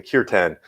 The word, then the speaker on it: kirtan: and and we have what they call kirtan, or in the English pronunciation, kirtan, which is their version of, you could say, sacred music.